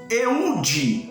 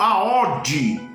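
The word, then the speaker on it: Eúde: E aí, depois de Otoniel, vem um homem chamado Eude ou Aode. Essas 3 pronúncias com o nome dele: Oode, Aode ou Eude.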